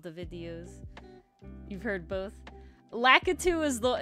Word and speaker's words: Lakitu: Lakitu is how I've always heard like the entity from Mario pronounced. I've never heard it pronounced any other way. Me neither. I've always heard it as Lakitu.